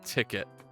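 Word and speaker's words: Tickit: But that's spelled like T-I-C-K-I-T. So like you do like ticket.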